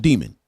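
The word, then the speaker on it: daemon: It's called demon. I've never heard it pronounced any other way.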